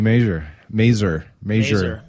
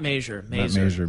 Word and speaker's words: Mazur: Mazur. Not Mazur. Rhymes with laser.